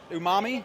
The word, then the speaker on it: umami: First, I had to figure out how to pronounce it. Umami, is that correct?